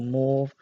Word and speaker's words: mauve: So I did a cat recently, and there was a lot of mauve, purplish mauve in there, or mauve, I know some people pronounce it.